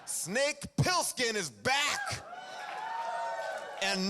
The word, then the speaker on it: Plissken: Paul, you may be shocked to find out that you've already mispronounced the lead character's name. Plissken. Not Pilskin.